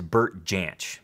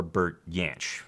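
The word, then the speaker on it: Bert Jansch: The number five spot belongs to Burt Jansch, or Burt Jansch. I've heard it pronounced both ways.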